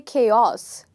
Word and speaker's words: chaos: So as you can see that I have written a part of the word in bold letters, which is K. The reason I have done this is because you stress this part of the word more than this part. So you don't say chaos, you say chaos.